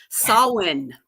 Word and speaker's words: Samhain: Samhain, you know. Yes, yes, That's that's a Celtic pronunciation.